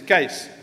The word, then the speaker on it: Kees: Its correct pronunciation is Kees.